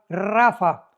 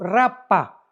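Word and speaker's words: Rapha: tu Biblia la palabra Rafa. R de Raúl ha de Armando. P de Pedro, H intermedia de Armando. Rapa, pero se pronuncia en el hebreo rafa.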